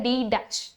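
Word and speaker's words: d′: लगता है ना वैसे, और इसको प्रोनाउंस किया जाता है डी डैश, ठीक है।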